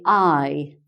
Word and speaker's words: aye: and scottish people also instead of saying yes they say i so a-y-e means yes and they also instead